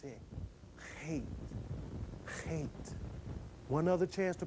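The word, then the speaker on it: Heth: Pronounce it. Hate.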